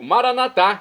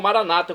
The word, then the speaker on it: Maranatá: E agora eu clamo do aramaico Maranatá, como dizemos nós católicos, ou Maranata, como dizem nossos irmãos separados, os evangélicos ou protestantes. Não importa a pronúncia, o significado é o mesmo.